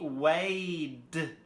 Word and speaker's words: weighed: This one, obviously, it's written with GH. But how you pronounce it is way. So it's the A sound. So we know from the A sound it's rule number 2. So it should be weighed with the D sound.